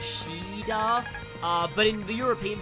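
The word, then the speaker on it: Shiida: does not get I think it's pronounced like ceda with like the c version I always pronounce the same way as the Japanese which is sheda uh but in the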